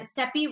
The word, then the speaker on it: Cepee: And I'm Cepee again. Cepee rhymes with Peppy, for anybody who doesn't know.